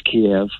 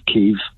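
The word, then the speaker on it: Kyiv: or two kia and it is kiev it's not keiv it's kiev once it's around kiev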